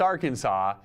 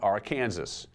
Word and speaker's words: Arkansas: is illegal it is prohibited by law to mispronounce the name of Arkansas it's Arkansas not Arkansas they actually have a law Jude 1518 46